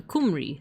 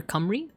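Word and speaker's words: Cymru: You pronounce it like uh kumri. Ah, okay. Okay. Or camry.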